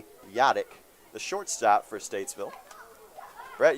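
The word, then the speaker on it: Hladliek: pitch from nichols to garrett yadak that's spelled h-l-a-d-l-i-e-k yadak the shortstop for statesville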